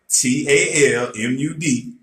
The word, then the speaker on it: Talmud: every religious order since Tamela protocol or tablet ta L mu D that's how we spell it is the Hebrew word for instruction the